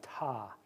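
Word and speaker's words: Ptah: and another one called it's with a p but I think the p is silent it's called ta p-t-a-h is how that's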